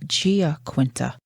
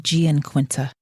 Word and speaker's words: Giaquinta: It's Sarah Giaquinta. I've been saying Gianquinta the entire episode.